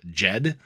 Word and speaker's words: Djed: on cardano for example there's Jed djed is how it's spelled which is going to